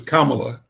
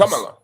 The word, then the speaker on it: Kamala: It's Kamla Harris. Kamala. Kamala. Kamala Harris.